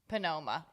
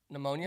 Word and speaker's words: pneumonia: what I'm talking about it's something that starts with a P penoma pneumonia pneumonia well I always I always say penoma like first cuz I